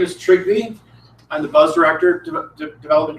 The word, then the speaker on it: Trygve: Acceptable mispronunciations of my name are Trygve and. That's the only thing that I will accept.